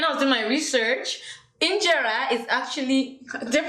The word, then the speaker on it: Injera: Injera is actually, did I pronounce it well?